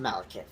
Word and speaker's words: Malekith: I think it's just pronounced Malekith, which I'm probably one of those... I wouldn't say the only person, but just... I just still though, it's pronounced Malekith.